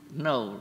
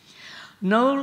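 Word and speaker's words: Knole: And we didn't know where we were going, but we happened to see a signpost to Knowle. Now, Knowle, in the typical British spelling, is spelled K-N-O-L-E, right?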